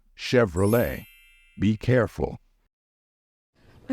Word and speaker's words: Chevrolet: word is Chev however the ending of this word is pronounced as Le so the correct pronunciation of this one is Chevrolet be careful a Chevrolet for example 1960 Chevrolet